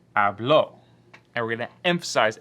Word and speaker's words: habló: So instead of saying hablo, like this, we're going to say ella habló.